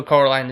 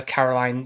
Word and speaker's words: Coraline: And obviously the fact of how for Coraline as well, and you've made a joke about Caroline, because the other adults keep getting her name wrong, calling her Caroline.